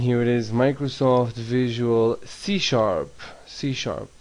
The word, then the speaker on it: C#: Microsoft Visual C. The pound sign is pronounced sharp.